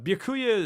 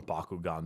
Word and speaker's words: Byakuya: very interesting as well but B Kuya is that's how you say his name I called him Bakugan the entire playthrough is definitely a very